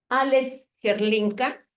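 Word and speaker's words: Hrdlička: Alex Gerlinka, así se pronuncia.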